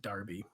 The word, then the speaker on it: Derby: Yeah, they pronounce it Derby for some reason. You always hear about like the West London Derby, but it's Derby. The word is Derby.